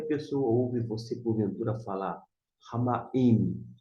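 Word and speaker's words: הַמַּיִם: Então, o iode é Y e o hirik é o som de I.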